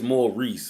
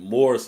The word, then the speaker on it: Maurice: Reese right B is Mor Reese ain't it it ain't I was calling it moris or something it's it's pronounced like Mor Reese right from our conversation we had before you know what I'm